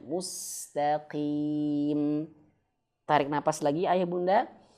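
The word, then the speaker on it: المستقيم: Tapi huruf qof jangan disamakan. Jangan bacanya almustaqim. Nah, almustaqim. Jangan ya. Tapi almustaqim biasa saja ya, Teman-teman. Nah, coba kita praktikkan lagi ya. Ihdinasiratal mustaqim. Ah, gitu ya. Jadi jangan sampai bacanya mustaqim tapi biasa aja mustaqim.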